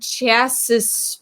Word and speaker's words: chassis: ford so luigi's in charge of wheel and chassis production chassis so it's c-h-a-s-s why i think i don't know how it's spelled google docs translated it is c-h-a-s-s-i-s but